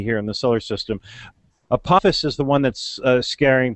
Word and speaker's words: Apophis: Paul you might know this is it maybe pronouncing this asteroid and Apophis Papa's now Apophis yes Apophis is the most scary one and